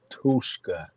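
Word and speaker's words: Tuszka: Hey, pronounce his name for me. Derek who? Derek Tushka.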